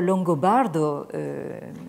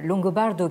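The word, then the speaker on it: Longobardo: barde c'est à dire ça s'écrit comme ça se prononce l ong au bea r d eau donc qui a vécu entre 1559 et 1654 donc longo bardot qui a succédé à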